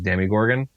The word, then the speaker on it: Demogorgon: So I understand that the official pronunciation is Demigorgon, but it just doesn't make sense when it has an O instead of an I or even an E.